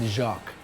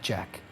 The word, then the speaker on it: Jacques: then you tell them to pronounce it Jacques, not Jack.